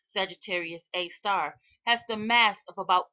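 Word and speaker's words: Sagittarius A*: Researchers said scientists estimate that this black hole, also known as Sagittarius A, pronounced Sagittarius A star, has the mass of about 4 million suns.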